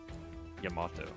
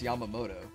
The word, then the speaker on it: Yamamoto: like to know more yamato that's how you say it no it's yamamoto nah it's it's not yamato there's an extra moe in there i like that i